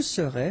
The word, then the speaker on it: serais: Je serais, final S not pronounced.